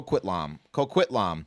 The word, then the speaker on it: Coquitlam: to um uh God I looked up how to say this and I go quit LOM Coquitlam it's just outside of